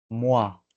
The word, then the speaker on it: moi: lo va a llamar Muao. Eh, para que me sigan, eso se escribe muy sencillo. Se escribe moi, solo que es francés, y se lee mua.